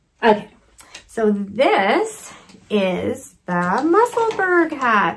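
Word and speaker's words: Musselburgh: so this is the muscleburg hat i'm going to say berg there's a big knitter's uh split right now on how you pronounce this some say muscle burp some say muscle burr um but we all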